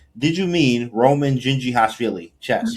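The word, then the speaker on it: Dzindzichashvili: It's not very like I remember one guy and uh shout out to Roman his name his last name is pronounced like Gingi Hashilli he's from um Georgia the country not the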